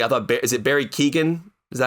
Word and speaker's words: Keoghan: Some of the highlights for me, I thought, is it Barry Keoghan? Is that how you pronounce his last name?